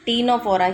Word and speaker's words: Ctenophora: Phylum Ctenophora. Okay, what is it? Ctenophora. Here also C is silent.